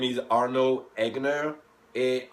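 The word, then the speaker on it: Arnaud: and welcome to my class my name is Arnold egner a r n a u d a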